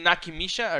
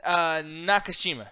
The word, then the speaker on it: Nakashima: yeah, Kazuki Nakimisha. Or man, I fucked that word up. No, you probably. Fine, it's a hard name to pronounce. No, but Kazuki Nakashima. Nakashima, yeah.